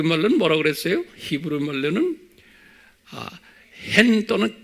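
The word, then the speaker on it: חן: 그러니까 CH가 그 복합적으로 발음되는 거예요. 그 캔 이런 소리, 캔 이런 소리예요. 그 hen 그렇게 그래서 그냥 hen 하면 안 돼. 그 붙이고는 그 hen 이렇게 발음을 해. 우리 말에는 없는 발음이에요. 그 다음에 그리스 말로는 뭐예요?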